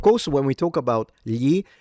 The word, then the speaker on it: gli: gli And that's the standard on how to pronounce it.